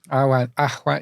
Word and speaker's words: Awen: But Awen. Ahwan, yeah, so it's pronounced Ahwan.